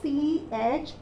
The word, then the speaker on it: choir: You have the second word written here, that is C-H-O-I-R. How do you pronounce that word? We pronounce the word as choir.